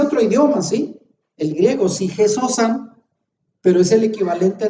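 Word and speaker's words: ψυχὴ ζῶσα: Y ahí alma viviente utiliza dos palabras griegas que ahí las pongo y se pronuncian sige sosan. Sige sosan en griego es el equivalente al nefesh hayah en hebreo.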